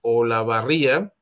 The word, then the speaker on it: Olavarría: ocurrió esto se llama olavarría o la barriga sí creo que sí se debe pronunciar Y pues son imágenes